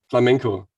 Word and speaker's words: flamenco: playing this flamingo stuff wait are you saying flamingo is that flamenco is that a type of guitar not the kind i'm not sure if i'm pronouncing it correctly the english way but it's the music from spain okay flamenco flamingo i'm gonna